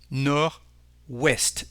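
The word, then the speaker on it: nord-ouest: Northwest North is nor as you can hear there is no D when you pronounce it nor West so the lion is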